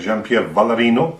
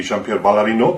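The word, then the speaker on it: Jean-Pierre Vallarino: lecture by my friend jeanpier valerino or like in the pronunciation correct correctly would be jeaner valerino because his French is a great performer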